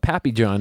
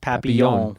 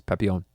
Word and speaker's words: Papillon: And I always want to call it Papillon now. And I was calling it Papillon. Papillon? But it's pronounced Papillon. Papillon.